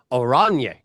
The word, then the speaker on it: Oranje: It's not orange, guys. It is oranje, mean in Dutch kid growing up in Canada.